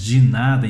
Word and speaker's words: de nada: De nada, que nós falamos de nada em português, em espanhol a forma correta de se pronunciar é de nada, de nada. Então nós temos que falar as vogais todas bem pronunciadas de uma forma correta.